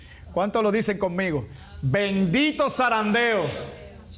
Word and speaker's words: zarandeo: Bendito zarandeo. Como no somos españoles no podemos pronunciar muy bien la Z ahí, ¿no? Pero un zarandeo con Z.